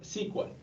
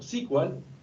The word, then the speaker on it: SQL: el lenguaje de consultas SQL. Podemos pronunciarlo como SQL o SQL. De ambas formas es correcto.